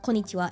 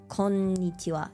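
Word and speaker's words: こんにちは: when they say konnichiwa, they kind of don't elongate, like they don't realize that it's not syllables. I think it's called mora or something. There's like an extra one for N. So it's not konnichiwa, it's konnichiwa. So there's like an extra beat on the N.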